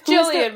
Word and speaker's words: Gillian: and Jilly right yeah okay it's jilan but she calls her like Jilly every now and then who is Nicole Kidman they they spell it Gillian and it does bother